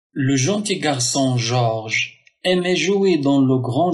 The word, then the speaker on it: Georges: et la voyelle donc George George donc le E ne se prononce pas mais il est il est là pour garder toujours le son je George comme euh je